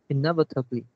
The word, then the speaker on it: inevitably: The first line, the last bit words, this is pronounced inevitably. You pronounce inevitably. Oh. So it's the last second syllables.